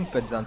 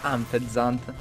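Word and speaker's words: Unfezant: Anfezant, che io pronuncio come yfezant, è un po' strano e si pronuncerebbe fezant, ma sono stupido.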